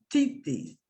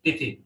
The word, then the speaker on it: Tithi: Titi, time, you know. Tithi. Oh, Tithi.